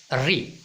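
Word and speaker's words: ऋ: The sound is रू फॉर री इन Hindi, so we should observe it that if we talk in Hindi we have to pronunciate it re, not ru.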